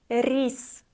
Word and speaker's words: рис: Рис. Рис. R is soft here.